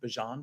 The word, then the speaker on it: Bijan: you and John Robinson did you know what's pronounced Bijan by the way as opposed to Bijan I